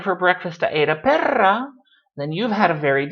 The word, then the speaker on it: perra: So you have to be careful about if you roll your R or if you do not roll your R. Pera, perra, pero, perro, no son iguales. They're not the same thing.